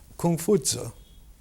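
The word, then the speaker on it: Kong Fuzi: Confucius is the Latin pronunciation. His name in Chinese is Kung Fu Tzu, Master Kung.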